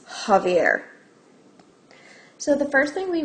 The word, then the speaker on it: Javier: of a gallon can Xavier buy for his car I realized I just said his name wrong is Javier so the first thing